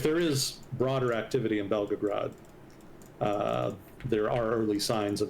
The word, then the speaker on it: Belgorod: And I've previously mispronounced it Belgograde, and I think somebody in chat bitched me out because they thought I was talking about Belgrade, which is a completely different thing.